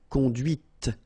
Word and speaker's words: conduite: And that's when you hear the difference between conduit, because remember, final T is not pronounced, conduit, here, and then the feminine, conduite. Okay, so here you can listen to this t, t, okay, conduite.